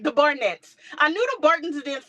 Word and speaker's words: Barnett: started when she got to the Barton the so the Barton had other children they had some other boys huh what' you say the Barnett oh why you didn't B tell me I was say it wrong I have I did